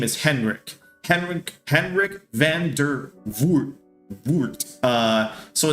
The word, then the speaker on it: Henrik van der Voort: Henrik van der Voort. So it's spelled HENIRK VANDER and then VOORT.